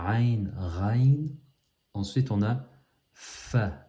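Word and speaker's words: ف: Ensuite on a Fa. Le Fa, c'est comme le F du français.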